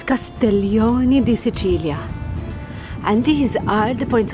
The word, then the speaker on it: Castiglione di Sicilia: now these are oh I said it wrong the dog I said it wrong it is castellon dilia and these are the